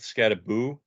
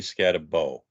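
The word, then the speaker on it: Skattebo: you Ryan Richard's favorite even though it's spelled scatter boo he prefers you to say scat a bow that's right it's got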